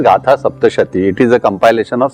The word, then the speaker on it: Gatha Saptashati: In Sanskrit it should be pronounced as Gatha Saptashati.